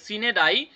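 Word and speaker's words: sine die: এবার নিচেরটা the school was dash for সিন্স ডাই। তাহলে দেখেন দ্য স্কুল ওয়াজ, তার মানে কি স্কুল কি হয়েছে, বন্ধ হয়েছে। হ্যাঁ, সিন্স এখানে দেখেন, ও সরি দুঃখিত, এটার উচ্চারণ হচ্ছে গিয়ে সিনেডাই।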